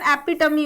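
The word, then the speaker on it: epitome: इसका सही pronunciation एपिटमी होता है।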